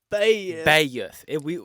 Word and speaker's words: Beth: deep East Texas, and they don't say Beth. They say Bayeth. We're talking 2 syllables. 2 syllables.